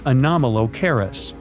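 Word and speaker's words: Anomalocaris: The name is a bit tricky to pronounce, so I'm not going to. Okay. Okay. It's anomalis, but it just literally means unusual shrimp.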